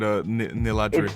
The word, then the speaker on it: Niladri: Well, thank you very much for coming along, my friend Niladri.